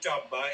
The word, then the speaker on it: Dhaba: Yeah, it's Mannys Punjabi Dabba. It's spelled Dhaba.